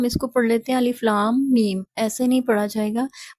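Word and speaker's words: الم: کو ادا کریں گے۔ تو اسے ہم صحیح ادائیگی تلفظ کے ساتھ اس طرح سے ادا کریں گے، الف لام میم، یعنی آپ نے میم پہ غنہ کے ساتھ پڑھنا ہے۔ تو ان کو کہتے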